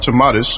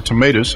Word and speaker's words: Tomatis: Alfred tomatis or tomatoes however you choose to pronounce that from the very